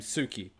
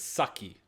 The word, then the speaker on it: Suki: A mate of mine used to date a girl named Suki, but I mispronounced it as Saki.